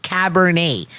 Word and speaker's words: Cabernet: pronouncing Cabernet until I was like, how do you say? He's like Cabernet.